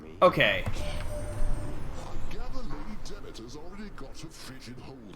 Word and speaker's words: Demeter: Demeter, so it's pronounced.